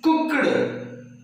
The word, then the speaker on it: cooked: So that, how do we pronounce cooked? Actually, the k sound, final consonant sound, is voiceless. That's why we have to, yes, end the sound t.